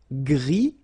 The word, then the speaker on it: gris: Gris, don't pronounce the S, but then for the feminine form, grise.